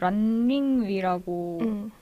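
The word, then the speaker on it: 玲玉: 먼저 이게 그 노랑 씨가 말씀해 주셨듯이 완령욱이라고 이제 한자로는 그렇게 읽혀지는데 링위라고 이제 발음이 돼요.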